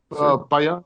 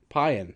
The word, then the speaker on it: Payan: Payan. It's like Mayan, but with a P. Okay, Payan.